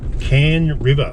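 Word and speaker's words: Cann River: place called Lakeside Entrance via Can River, which is spelled C-A-N-N River.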